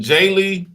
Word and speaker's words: Djeli: The African J Lee, the D is silent, DJELI, 801 Lee Street, Southwest, Atlanta, Georgia.